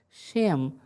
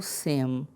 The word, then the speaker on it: Shem: shem ou sem, porque o shim vai variar a sua pronúncia conforme a colocação de um pequeno sinal que nós não temos no texto original.